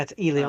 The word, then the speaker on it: Elio: It's pronounced Elio. No. Yeah, it's Elio.